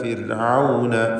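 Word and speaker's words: فرعون: ഇദ്ഹബ ഇലാ ഫിർഔന, ഫിർഔന റായിന് തർക്കീഖാണ്. സുക്കൂനും തൊട്ടുമുമ്പിൽ സ്ഥിരപ്പെട്ട് കസ്റുമുണ്ട് എന്ന കാരണത്താൽ ഫിർഔന ഇന്നഹു തഗാ, നൂൻ മുശദ്ദദയെ മണിക്കുക.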